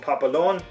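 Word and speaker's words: papelón: but it uses a kind of sugar called Papillon now this is called I wrote this down so I would not pronounce this incorrectly in Venezuela it's pretty it is pronounced or it is called Papillon in uh a lot of Central American countries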